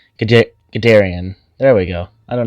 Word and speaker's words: Guderian: I hope that this was informational, and I hope that this helps you on your path to Guderian. I pronounced that so wrong. Guderian.